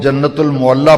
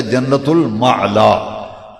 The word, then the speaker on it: جنت المعلا: اس کا نام ہے، کئی لوگ جنت المعلا پڑھتے ہیں، یہ پروننسیشن غلط ہے، تلفظ صحیح لفظ ہے جنت المعلا، مکہ شریف کا قبر،